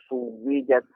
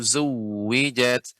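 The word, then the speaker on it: زُوِّجَتْ: Wa izan nufusu suwijat. Zai Pak. Jelas zainya. Wa idzan nufusu zuwijat.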